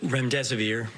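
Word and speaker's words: remdesivir: thank you so much I wanted to ask rent REM severe if I pronounced that correctly can you test a zit currently approved for use on the virus so REM des aveer and it's a drug made by gilja that's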